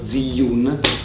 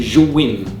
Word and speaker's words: Zhiyun: Ho scoperto che quello che io pronunciavo Ziyun si legge Zhiyun, quindi d'ora in poi Zhiyun.